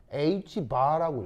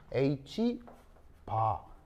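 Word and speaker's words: ℏ: 그래서 이제 읽을 때는 h 바라고 읽어야겠죠? 바라고 읽습니다. 읽을 때는 h 바 이렇게 읽어져요.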